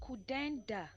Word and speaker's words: Kudanda: It's pronounced Kudenda. Kudenda. Okay. Kudenda.